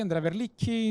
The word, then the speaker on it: Andrea Verlicchi: Andrea Verlicchi is pronounced, if you were thinking about to pronounce it.